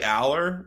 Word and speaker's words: Allar: see Drew all and I always forget if it's all or all I always pronounce it differently um I the announcers say Aller all I'll say Aller uh Drew Aller I don't know why I go to allar but Drew Aller I